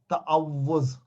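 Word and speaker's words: تعوذ: ता पे जबर डालें, त, आइन पर जबर आ, ता, उसके बाद वाव 2 दफा लिखे क्योंकि वाव पे तशदीद है। तअव पेश पे वाव पेश और फिर जा। तअव्वुज़, सारे बोले तअव्वुज़, तअव्वुज़, तअव्वुज़, तअव्वुज़, तअव्वुज़।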